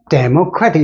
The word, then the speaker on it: democratic: 발음상 액센트를 두면서 democratic 영어는 이렇게 발음을 할 때 강약 중강해서 되니까 두 번째 액센트는 여기 들어가고 democracy 때는 하나 둘 셋이니까 democracy 이것과 이거는 발음이 완전히 틀리죠. 이건 democracy, 이건 democratic.